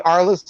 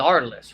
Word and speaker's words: ARLI$$: alice is silent the our list is silent the artless silence we don't say the dollar signs out loud when we talk about our list we don't call him